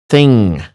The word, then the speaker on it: thing: We say it like thing, something. It's not ing. That's completely different sound. Sonically speaking, it's thing. So it's not stressed G, and it's not just light N or N.